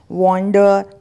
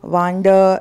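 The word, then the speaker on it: wonder: फिर इसी से बने हुए शब्द हम देखते हैं, वॉन्डर, वांडर, इस तरीके से बोलते हैं, तो आपको बोलना है वंडर।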